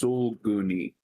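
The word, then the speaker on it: Sulguni: It's pronounced suloni. Soloni.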